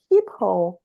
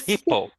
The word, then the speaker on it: Schiphol: You said at least the name of the airport you should be able to pronounce correctly. Schiphol. It's Schiphol. It's Schiphol.